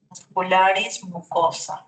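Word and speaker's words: muscularis mucosae: Musculares, mucosa. Recuerden, a e se pronuncia como a muscular de mucosa.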